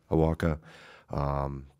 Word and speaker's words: Awaka: How do you say his last name? Awaka.